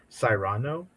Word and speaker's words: Cyrano: So we got Cruella, Cyrano, Dune, Nightmare.